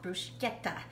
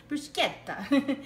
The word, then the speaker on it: bruschetta: and it's not called bruschetta it's called bruschetta bruschetta so in Italian the CH is actually pronounced with a hard K so it's never soft it's like so we're